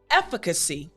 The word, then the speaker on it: efficacy: this sound properly so in order to make the f sound properly what you need to remember is to put your front teeth on your bottom lip it's literally that simple